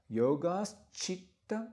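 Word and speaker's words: yogaś citta: combination, there's a sh added between yoga and chitta. So actually, it sounds like this, and you may say this after me if you want to. Yogas chitta vritti nirodha.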